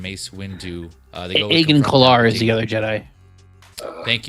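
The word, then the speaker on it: Agen Kolar: Jedi and then Mace Wu uh they go Aen Kar is the other Jedi. Thank you. Yeah, I had his name. I didn't know how to pronounce it. So it's Aen Kar.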